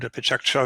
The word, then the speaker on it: Pecha Kucha: So there are innovative formats, something like Lightning Talks, Pecha Kucha or Pecha Kucha, as it is officially pronounced, World Café or open space and things like that.